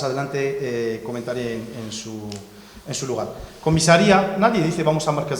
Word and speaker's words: comisaría: Es comisaría, no es comisaria.